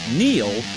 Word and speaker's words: Neil: Brewing Company Golden Colorado it's no coincidence that Neil rhymes with deal because that's something you